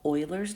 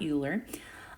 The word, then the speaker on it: Euler: going to be using a number that's called Euler's number it's actually pronounced Euler not you learn and that's e it's a lowercase e you